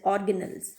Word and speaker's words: organelles: capable of performing functions we call them organelle ease or you can say pronounce it as organelles cell organelles okay and